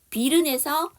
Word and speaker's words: bitten: 비른에서 E가 묵음이에요.